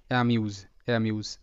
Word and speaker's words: amuse: তো এখানে যে শব্দটি আছে, এই শব্দের উচ্চারণ AMUSE, এটা অ্যামিউজ। এ কিন্তু এখানে হিসেবে উচ্চারিত, মিউ। এস এর উচ্চারণটা বর্গীয় জয়ের মতো হবে, কারণ এখানে এস এর সামনে ভাওয়েল আর এস এর পিছনেও ভাওয়েল।